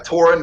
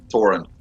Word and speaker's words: Thorin: to 11 is it Thorin or Torin I'm sorry uh uh it's mostly uh Toren basically the H is silent Toren I'll try and remember